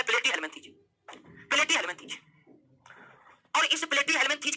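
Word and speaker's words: Platyhelminthes: सबसे पढ़िए प्ले, ठीक है, इसको पढ़ लीजिए प्ले, और उसके बाद उच्चारण कीजिए किसका? डी का। उसके बाद उच्चारण कीजिए हेल का, उसके बाद उच्चारण कीजिए मीन का, और उसके बाद उच्चारण कीजिए थीज का। तो इस तरह से इस फाइलम का नाम हो गया प्लेटीहेल्मिन्थीज।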